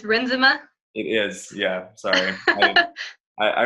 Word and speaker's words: Renzema: Chris Renzema, just at Chris Renzema, Renzema. So I've been pronouncing it wrong this whole time. I thought it was Renzema, so it's Renzema.